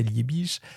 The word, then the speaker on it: Liebig: Liebig, prononcé Liich qui mène des expériences